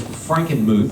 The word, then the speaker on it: Frankenmuth: in in and I think I got this Frankenmuth is that the correct pronunciation yeah um um I believe and it